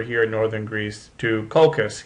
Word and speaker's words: Colchis: He had to travel all the way from Iolcus, which is over here in northern Greece, to Colchis, yes it rhymes, which is on the far end of the Black Sea.